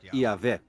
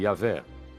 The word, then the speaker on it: Yahvé: Segundo um relato, Abraão conhecia Deus por seu nome pessoal, que costuma se pronunciar Yahvé.